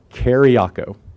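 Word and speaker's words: Kyriaco: a CEO thank you and how do you pronounce that carry a co carry a co thank you great thank you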